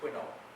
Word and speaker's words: Quinault: Keynote River in which I think is pronounced Quinault. It's spelled the French word Quinault, but it's Quinault. I think it's a Native American term.